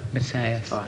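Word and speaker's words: Matthäus: Matthaus. Because that's the correct pronunciation.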